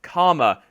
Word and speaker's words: Kama: However, he is actually using the Chinese Kama. Now, that's how you pronounce it.